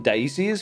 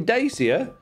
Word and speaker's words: Dacia: at the beginning and we've been calling them daisies for years but apparently dacia either that or the